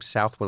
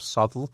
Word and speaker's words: Southwell: You can you can argue with people about whether you pronounce his name Southwell or Sulle. Okay. But, uh, either way, it's spelled Southwell.